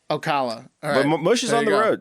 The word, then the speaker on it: Ocala: really picture in there how do you pronounce it yeah Ocala you never know all right guys back on June 12th st.